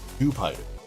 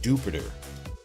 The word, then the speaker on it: Dewpider: So I read the other day that this guy's name is not Dewpider. It is not Dewpider. It's something else. It's like Jupiter.